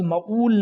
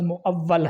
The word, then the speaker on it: مؤول: پڑھتے ہیں۔ یہ لفظ مؤول نہیں ہے، یہ لفظ مؤول ہے، مؤول۔ یہ دونوں اس میں مفعول کے صیغے ہیں۔ قیاس لفظ ہے،